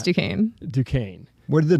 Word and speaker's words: Duquesne: It's spelled like what? Duquesne. But it's Duquesne.